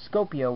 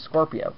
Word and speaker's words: Scorpio: which I actually realize I was mispronouncing that I thought I was scopia when I was his Scorpio so I was kind